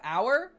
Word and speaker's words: hour: The fact that you can add an H to the front of hour and it doesn't change anything.